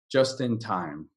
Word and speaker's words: just in time: get there just before just in time just in time and the way we say this the pronounciation do you know the name Justin like Justin Timberlake Justin so it's really just in time just in time just